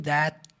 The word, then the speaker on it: that: But the thing that makes wood special, but the thing that... E aqui um that também, você não fala that. Exclui o T do final, igual você fez lá com and, que você falou só N.